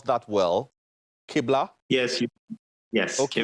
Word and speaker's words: Qibla: Did I pronounce that well? Qibla? Yes. Yes. Okay. Qibla.